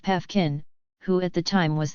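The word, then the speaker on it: Paefgen: from driving franz joseph piefgen pronounced pefkin who at the time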